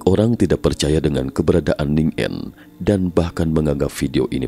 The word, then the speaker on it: Ningen: Oleh karena itu, orang-orang menamakannya Ningen atau Ningen menurut pengucapan bahasa Jepang, atau disebut juga manusia Antartika.